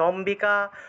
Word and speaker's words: অম্বিকা: ততোম্বিকাম অর্থাৎ উচ্চারণ হচ্ছে অম্বিকা অম্ব এই সকল শব্দের ক্ষেত্রে ময়ের নিচে বফলা থাকলেও সেই বফলার উচ্চারণটা বয়ের মতোই হবে, ঠিক আছে, সাধারণ বইয়ের মতো।